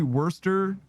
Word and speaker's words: Worcestershire: It's just a matter of, it's literally Worcestershire.